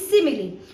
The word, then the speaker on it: simile: So figure of speech में हम सबसे पहले करेंगे आज की important speech that is सिमिलरली। सबसे पहले इसको प्रोनाउंस कैसे करते हैं? इसकी प्रोनाउंसिएशन है सिमिली is called the सिमिली।